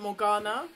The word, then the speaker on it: Morgana: But I would pronounce it Morgana because that's the correct pronunciation.